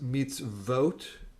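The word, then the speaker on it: מצוות: it no so so it turns out that the word is meets vote and you make a v sound for the v and that's the o above it okay right and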